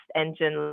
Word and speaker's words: N*Gen: next generation tv and it's pronounced engine like the engine that keeps things moving and it's a science